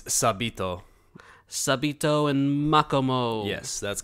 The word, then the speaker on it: Sabito: No, because in Japanese, I'm sure they say just Sabito.